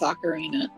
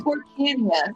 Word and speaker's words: Ocarina: it, but I also did not know how to pronounce Ocarina. It was Ocarina Oh, of Time. it was Orcania. That's what that's what we call it. We call it Orcania of Time.